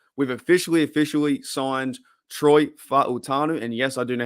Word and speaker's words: Fa'utanu: We've officially signed Troy Fa'utanu. And yes, I do know how to pronounce that.